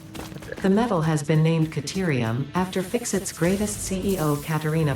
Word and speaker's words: Caterium: Okay, now we have an official pronunciation. It's Caterium, because Katerina.